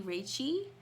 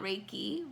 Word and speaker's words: Reiki: a Chinese friend that it's actually reichi not Reiki but I'm still learning that